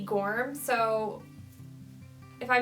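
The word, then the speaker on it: Gormé: I heard people say Edie Gorm and Edie Gourmet. I was taught when I was little that it's Edie Gorm, so if I mispronounce, I'm sorry.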